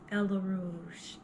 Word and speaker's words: Ella Rouge: But see, I told people they had to say it like Ella Rouge.